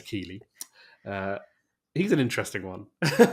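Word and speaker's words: Keighley: is a um jeff keeley sorry i was saying in our in our green room that i want to pronounce his name like the uh town in yorkshire but it is keeley uh he's an interesting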